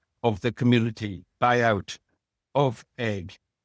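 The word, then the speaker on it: Eigg: pioneers of land reform on the island of Egg where we got it back out of private ownership and to community ownership, a community of um now over 100 people.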